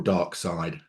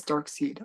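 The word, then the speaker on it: Darkseid: dark dark seed or dark side Dark Side nobody says dark seed oh my goodness um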